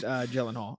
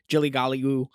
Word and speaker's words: Gyllenhaal: Actually, it's pronounced Gyllenhaal, or I mean, whatever you said, Jilly-golly-oo, or whatever.